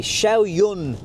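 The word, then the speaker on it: Xiaoyun: car I just jumped into it it's a shiao Yun uh is how you pronounce it uh petrol engine never driven a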